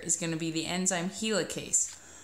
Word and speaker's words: helicase: gonna be the enzyme helicase notice that HeLa Cakes sounds like the word helix like DNA double helix it is in charge